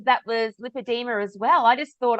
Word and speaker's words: lipedema: where everyone came together, it was decided that lipedema is the actual pronunciation. Not that you'll get in trouble if you say the wrong thing, but we're going to Yeah. try and remember that it's lipedema.